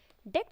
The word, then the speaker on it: DECT: WLAN DECT system, Digital Enhanced Cordless Telecommunication Systems, pronounced as DECT.